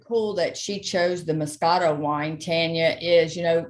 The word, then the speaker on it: Moscato: one thing really cool that she chose the Moscato wine Tanya is you know the Moscato and it's pronounced Mo Scott toad okay but it is really it is an